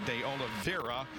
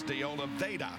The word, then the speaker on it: De Oliveira: his name wrong because there's an R in there. It should be De Oliveira, but he says De Oliveira, so that's the way we pronounce it.